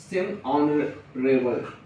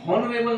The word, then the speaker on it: honorable: ऑनरेबल यस तो आया लेकिन हॉनरेबल नहीं बोलते इसको।